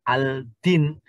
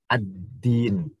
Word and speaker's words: ad-din: Sehingga ada alif lamnya, sehingga membacanya nggak boleh kita dengan al-din. Tetapi dimasukkan ke dalnya sehingga menjadi ad-din.